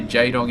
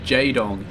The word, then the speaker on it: Jaedong: know what i mean it's jaedong it's very very sharp it's really very very sharp corners to the pronunciation but jedong it just rolls off so smoothly like taga taga is